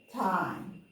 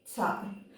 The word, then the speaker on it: thyme: For me everything is the is not so but you know what I'm trying to say not time like the time has passed is the time herb or herb British say